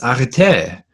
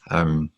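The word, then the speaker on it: ἀρετή: Or a human being is arete. By the way, we weren't allowed to translate arete. Arete, I think, is a more proper pronunciation. Arete, but I'm going to say arete, which is usually translated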